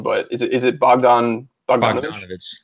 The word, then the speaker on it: Bogdanovich: And I'm gonna need some help with pronunciation, but is it Bogdanovich? Bogdanovich, correct.